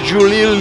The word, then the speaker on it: Giulia: They just spell it Italian-like, so it's Giulia.